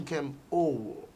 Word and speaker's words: Nkem Owoh: Well, Nkem, how do I pronounce Nkem it? Owoh. Nkem Owoh.